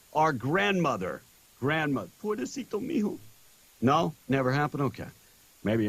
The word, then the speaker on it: pobrecito mijo: Pobrecito mijo.